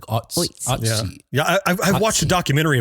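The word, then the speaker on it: Ötzi: a 5,300-year-old man nicknamed Otzi the Iceman. Is that the official pronunciation? Yeah, it's not Otzi. It's like, I think so. You kind of swallow the so. O, like Otzi.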